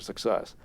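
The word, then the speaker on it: CICESS: Excellence for secure software cic C we pronounce it success I really wanted it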